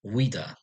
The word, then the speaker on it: Ouidah: Ajuda being the Portuguese way of pronouncing Wida.